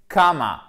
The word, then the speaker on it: comma: C'est une voyelle longue ici qui ne se prononce pas comme un A long. C'est entre le A et le O, mais c'est plus proche du A.